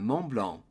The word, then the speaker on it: Mont Blanc: So, Mount Blanc in French is pronounced le Mont Blanc. Do not pronounce the final T on Mont or the final C on Blanc. Le Mont Blanc.